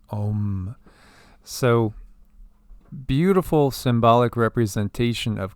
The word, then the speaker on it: Om: mind here this that the sanskrit ohm sign is literally translated as a-u-m however it's pronounced as om so beautiful symbolic representation